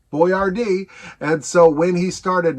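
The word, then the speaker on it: Boiardi: So we go from a fake woman to a real man, Ettore Boyardee. Boyardee. B-O-I-A-R-D-I, I think. It was an Italian last name, and it was pronounced essentially Boyardee.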